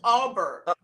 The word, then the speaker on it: Aubert: That's KD Albert. Aubert. Abear. It's Aubert. Abear. Aubert. Aubert. Yeah, That's that's how her you cousin.